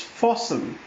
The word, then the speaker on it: fasten: also show some pictures this word is fossum FAS TN Fossum T is silent we have this word